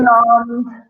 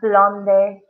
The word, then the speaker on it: blonde: Remember, guys, we do not pronounce the E, so it's Exactly. blonde, not blonde, only blonde. Exactly. Because this was a French word that we took.